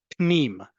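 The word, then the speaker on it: פנים: Okay, listen to how I say it and look at how it's spelled in column D. Pnim. I get that sound is difficult. However, just because it's difficult and it's not common in English doesn't mean other languages don't have it.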